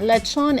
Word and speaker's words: lechon: it is from cebu what is lichon lechon is is spelled as l-e-c-h-o-n and uh it's also